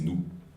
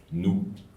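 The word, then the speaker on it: Nouh: u h mais n Si on prononce à la française c'est nous nous étant garde à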